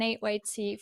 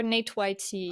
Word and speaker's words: NateYT: So Gundren FPV from XBlades and NateYT from, is that how do you say NateYT or NateYT? Oh, a lot of people say it different ways. I say NateYT, but I came accustomed to Natey.